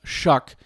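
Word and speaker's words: Shough: But the guy that's running after him, Tyler Shuck, who uh it's looks like SH, but it's pronounced Shuck.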